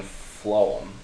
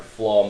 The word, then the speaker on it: phloem: to pronounce it and for phloem that pH makes the F sound so this is going